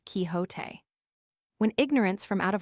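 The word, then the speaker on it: Quixote: misfortune to know that the gentleman's name is pronounced kiote when ignorance from out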